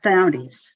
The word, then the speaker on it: Diomedes: I'm doing Diomedes. Is that how it's pronounced? Yes, Diomedes.